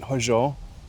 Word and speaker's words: Hózhó: And how about if you pronounce it and tell us a little bit about it? I've titled it Hózho, which is usually translated as balance and beauty and harmony.